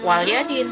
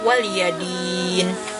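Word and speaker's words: وَلِيَ دِينِ: Jadi bukan lam sukun jadi jangan dibaca waliadin tapi waliyadin Din itu yang asalnya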